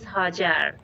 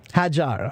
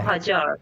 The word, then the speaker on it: Hajar: How do I say your name? Yeah, my name is Hajar. Hajar, okay. Or Hajar. Okay, all right, thank you.